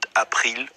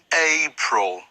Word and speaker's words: April: have March then April be careful with the pronunciation not appeal April and it's May June this one is okay